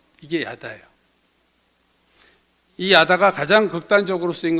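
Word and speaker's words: יָדַע: 4장과 6장은이 안다고 하는 히브리 동사는 야다라는 발음으로 읽는데 구약 성경에 이게 한 940번 정도 이상 나온다고 알려져 있고요.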